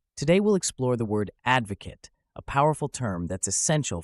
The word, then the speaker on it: advocate: Advocate a balanced diet notice how the stress falls on the first syllable Ed now let's look at the noun form Advocate the difference is in the last syllable K softer instead of Kate practice with this sentence